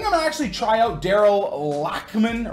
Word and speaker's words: Lachman: So I think I'm gonna actually try out Daryl Lachman, or Lachman, I guess, is the right way to say it in Dutch.